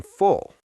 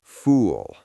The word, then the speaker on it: full: You would think, but my pronunciation of the vowel sound was off. Instead of saying, "I am full," I looked at everyone at the table and said, very seriously, "I am fool."